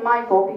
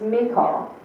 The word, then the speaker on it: Michal: He loved, now I'm going to say Michael because I've heard it pronounced that way. Pastor Howard says it's Michal. But there's other people that say Michael, so I'm going to say Michael. It's easier for me.